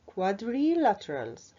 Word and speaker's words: quadrilaterals: they are called quadrilaterals how can we pronounce this long word we can get our scissors and cut this word into small syllables like this our colleague here try to cut it quad re laterals quadrilaterals quadrilaterals quadrilaterals like